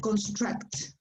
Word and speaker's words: construct: stuff with the verb construct. Construct with the symbol of like cup. Construct. Okay. Construct. Yes. The strong A. Construct. Yeah, the letter U is pronounced like a short A.